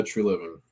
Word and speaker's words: Treliving: True Living, correct? Is how you say it? Yeah, True Living.